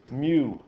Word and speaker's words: mu: Greek letter right here is the Greek letter mu mu mu it looks like a you but